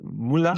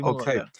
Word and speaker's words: Muila: Is that pronunciation correct? Muila? Yeah, that that was perfect. That was perfect. Muila.